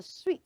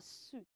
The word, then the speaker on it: suite: house will be okay that is a sweet not a suit so s UI t